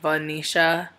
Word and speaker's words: Venetia: Like, I had a friend named Vanisha, and it's spelled Venetia.